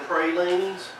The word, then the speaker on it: praline: the counter, I'll have one of those pecan pralines, and you get slapped in the mouth, that's on you.